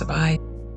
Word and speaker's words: Sabai: I believe it's pronounced Sabai. If not, my next guess is Sabai, but I am 97% sure it's Sabai.